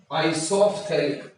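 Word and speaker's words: isophthalic: जा रहा है क्या, आइसोफ्थैलिक, आइसोफ्थैलिक, है ना, आइसोफ्थैलिक बोल रहे हैं। अब पीएच साइलेंट नहीं है, अब वो साउंड उसका पीएच का साउंड आएगा, है ना।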